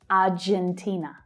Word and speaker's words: Argentina: So Argentinians and Spanish speakers notice that in English we use the j consonant sound, not the h sound. Argentina. Of course, you don't need to change your pronunciation to be understood, but to reduce your accent, you would try to pronounce the j sound.